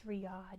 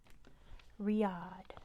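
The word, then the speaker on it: Riyadh: of Saudi Arabia it's Riad yeah we were just talking about that I told you to remember it's spelled like this Riad there's a silent h at the end Riad what's the tallest mountain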